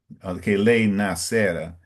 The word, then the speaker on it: nascera: In the first time, you said correctly. It's nascera. Mm, But in the second time, it's a little different.